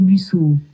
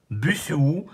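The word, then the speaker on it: Busuu: Voici ton cours d'espagnol avec Buzo.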